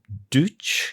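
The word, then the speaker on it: Deutsch: So uh around 63 your dad met a um a musician called Herb Duch. Is that the pronunciation? Deout that's the pronunciation.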